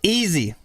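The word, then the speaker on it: Yeezy: Kanye made Drew easy no it's easy easy like easy peasy lemon squeezy easy first thing I notice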